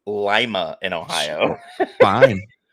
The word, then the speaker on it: Lima: time in Lima okay first off it's it's pronounced Lima in Ohio fine f and yes I've been